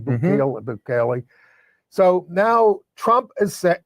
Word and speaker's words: Bukele: Bukele.